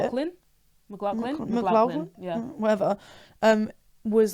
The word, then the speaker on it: McLaughlin: Yeah, and that's so like someone commented on one of our videos saying that Caleb McLaughlin, how do you say it? McLaughlin.